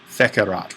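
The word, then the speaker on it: fecerat: subject so he himself fekerat well that works out well that's a long e because this is coming from fakio fakare feiki and then factum those are the four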